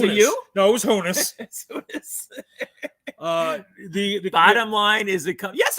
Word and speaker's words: Honus: Have you learned to pronounce his name yet? Honus, whatever. Hamas. Honus.